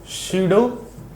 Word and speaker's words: pseudo: चलिए देखें, हेडिंग डाल लीजिएगा, शीडो फोर्स। पी थोड़ा इसका साइलेंट होता है, ठीक।